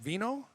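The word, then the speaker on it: vinho: either vin or va in French, veno in Spanish.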